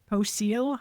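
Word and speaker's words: Poecile: So the genus is Poseel.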